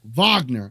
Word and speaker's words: Wagner: uh Isaac you definitely want to get those vogner Vagner it what what is Vagner from is what